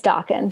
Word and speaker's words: Daken: And how do you pronounce his name? Daken? It's Daken.